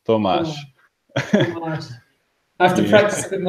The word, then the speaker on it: Tomasz: It's just you just do homage, but with a T, so it's Tomaž.